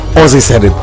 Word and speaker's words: Ozxy Said It: Ozzy said it. That's how we say it.